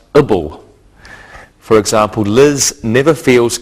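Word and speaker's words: -able: An adjective can end with A-B-L-E, which is pronounced ibble.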